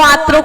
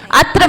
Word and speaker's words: अत्र: तो संस्कृत में भी अपन शुद्ध उच्चारण करें कि हे स्वामी आत्रो, आत्रो कोई शब्द नहीं होता, आत्रो बोलते ना, हे स्वामी आत्रो आत्रो, आत्रो कोई शब्द ही नहीं है, अत्र मतलब यहाँ, इसलिए अत्र स्वामी बोलना है ना।